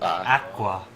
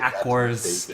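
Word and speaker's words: Aqours: pronounce it or Aqua Aqua yeah I have to fix my stuff yeah everyone saying it AAR because English but it's not it's like bad English Japan version you know so what do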